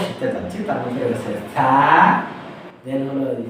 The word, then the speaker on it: ث: এই ৩টা অক্ষর উচ্চারিত হবে জিহ্বার আগা এবং দাঁতের আগা থেকে। সা, জাল এবং জ। সা, জাল অতি পাতলা অক্ষর, আর জটা হলো মোটা ধ্বনি বা ইস্তেআলা।